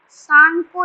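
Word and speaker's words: Tsangpo: सांगपो river याद रखना, एक साइलेंट है.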